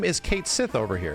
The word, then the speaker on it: Cait Sith: the Japanese version better right oh we should pronounce it this way Japanese version better and it's like no dude his name is Kate Sith over here like that's the translation of the